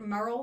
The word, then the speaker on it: Murrell: Because I've heard it pronounced several different ways. Yes, ma'am. The easiest way to remember Merl like Merl Hagard.